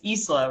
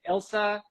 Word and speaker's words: Isla: three days now okay it's the common that's very that's the very common mispronunciation Elsa is like a third and then like Ilya people come out of nowhere with that one that's probably what this